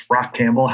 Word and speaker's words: Rachampbell: So Rachampbell is my name. Stone Soup is just how I introduce myself as a way to say my name is Rachampbell, how you pronounce the name.